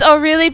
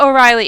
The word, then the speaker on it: Orly: I know it's Orilli because look at how that's spelled. It's I know it's not O'Reilly, it's Orureli.